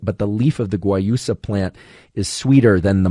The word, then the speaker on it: guayusa: who don't like mate might prefer something like guayusa which is spelled g-u-a-y-u-s-a g-u-a-y-u-s-a guayusa which is from Ecuador despite the